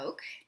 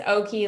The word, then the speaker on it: Oke: I always say it's Oak, like joke. Oh, because it's OKE. So do people say Yeah, like okay? because people think it's Okie like karaoke, but it's actually Oak like joke.